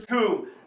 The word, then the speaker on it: Recoome: And my name is Recoome, and you'll be hurting all too soon. It rhymes with doom.